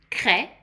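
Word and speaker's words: craie: So now we have a color cre that's pronounced cre.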